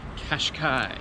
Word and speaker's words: Cascais: During lunch, I figured out it is pronounced Qashqai. C A S C A I S. Yeah. So, it's Qashqai is where I'm at. Um, well, Grandma, we finished up in Caravos from Kashkai.